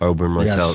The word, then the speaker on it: Oberyn Martell: Oberyn Martell.